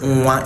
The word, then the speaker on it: nwa: to know is that if in your pronunciation you pronounce nwa as nwa and not nwa, just realize that you're not actually using the nwe sound, you're using a syllabic nasal nga to pronounce your nwa.